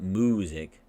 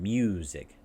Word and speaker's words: music: Going from the im sound, the m, to oo. Moo. It's not music. It's part of the transition. Music.